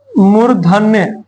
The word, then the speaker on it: मूर्धा: मूर्धन्य मतलब मूर्धा से, मूर्धा, मुर्दा नहीं बोलना है, ठीक है, मूर्धा, हाँ मरा हुआ मूर्धा कहां से आ गया ये सब, ये नहीं करना है।